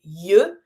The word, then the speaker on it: yeux: This one might be tricky when it comes to pronunciation because you see that the way we say eyes is yeux. Do not pronounce the X, but because it's plural, you're going to connect it with your S from les. Les yeux, the eyes.